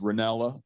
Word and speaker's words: Rinella: the respect it's uh my last name is pronounced ranella no problem thank you no